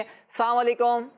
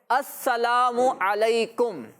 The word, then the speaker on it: السلام علیکم: کر کے دکھائیں، آواز سے کریں۔ جی ہاں بچوں، السلام علیکم ورحمۃ اللہ وبرکاتہ۔ بعض بچے کہتے ہیں السلام علیکم، السلام علیکم، السلام علیکم، تو یہ السلام علیکم کا سلام نہیں ہے، ٹھیک ہے؟ السلام علیکم صحیح لفظ کیا ہے،